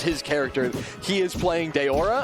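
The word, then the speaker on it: Daora: character he is playing Deora I believe that is how it's pronounced d a o r a uh who is like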